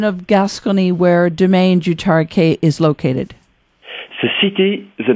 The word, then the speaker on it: Tariquet: throw in Domaine du Tariquet, Tariquet, but it's pronounced Tariquet.